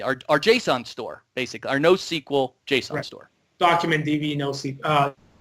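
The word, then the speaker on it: NoSQL: in document DB our JSON store basically our no sequel JSTOR document DB no sleep no sequel document storage there you said it right so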